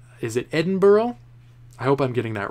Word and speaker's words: Edinburgh: Edinburgh, that's how you say it.